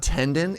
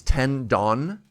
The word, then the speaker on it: tendon: watch over here oh it's not tenden it's tend Don that makes way more